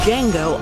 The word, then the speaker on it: Django: Quentin Tarantino's Django Unchained. What's your name? Django. D is silent.